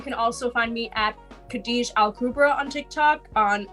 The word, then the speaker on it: Khadija: Khadija? You got it right. Oh yeah, yes. I was trying to pronounce it in my head, but it's I gotta figure this out.